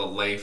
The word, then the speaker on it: Leif: I think in Danish it's Leif, and like the Leif is the traditional pronunciation of it.